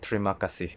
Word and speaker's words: Terima kasih: shorter phrase, which is "Trima Kasih" (Thank you) The "E" sound has been neglected.